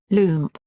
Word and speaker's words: Lump: Pronounced, Lump. German for rascal.